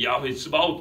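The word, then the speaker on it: יהוה צבאות: 그래서 여호와 츠바웃, 히브리 발음으로 보통 야훼 츠바웃 그러는데 만군의 여호와여 그렇습니다.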